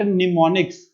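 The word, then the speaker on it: mnemonics: यहाँ पे एक चीज नोट करनी है आप लोगों ने, पेपर में पूछता है दैट निमोनिक्स, एम इसमें साइलेंट होता है, निमोनिक्स आपके कौन सी लैंग्वेज से एसोसिएटेड है, तो आपने उसका आंसर लगाना है असेंबली लैंग्वेज।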